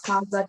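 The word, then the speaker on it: هذا: Haza is pronounced mahaza, but it is written without the first alif.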